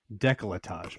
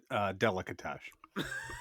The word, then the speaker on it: décolletage: It's décolletage. My bad. So I had the What were we syllables. saying? Delicatage.